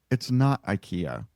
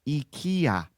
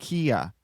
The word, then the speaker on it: IKEA: Anyway, it's not IKEA. It's IKEA. Yeah, no, I'm not saying that. That's stupid. It's IKEA. I don't care if that's how they say it's supposed to be pronounced.